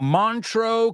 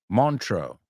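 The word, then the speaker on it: Montreux: you this what about montro Casino does that one ring a bell mantro Casino montro I think it's pronounced it is in Switzerland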